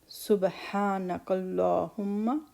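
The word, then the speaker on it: سُبْحَانَكَ اللَّهُمَّ: Subhanak. So in this, ba has a echo sound, kalkala, and ha is from the upper throat. Subhanakallahumma, lam will be heavy.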